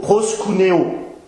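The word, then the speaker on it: προσκυνέω: dans la langue grecque adorer signifie se prononce plutôt proscunéo c'est-à-dire se prosterner en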